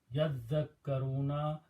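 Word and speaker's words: يذكرون: Now why tajweed is different, I'm not sure about that, but the word is actually yatazakkaruna, but in this particular case, it has, tajweed has changed this to pronounce yadhakkaruna, la'allahum yadhakkaruna.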